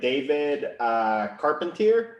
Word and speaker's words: Carpentier: We're here with David Carpentier. Is that how you pronounce it?